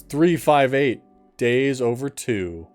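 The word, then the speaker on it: 358/2 Days: Kingdom Hearts 358 Days Over 2. As it is correctly pronounced.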